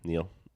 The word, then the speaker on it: Neel: Neil, it's just pronounced like the American Neil.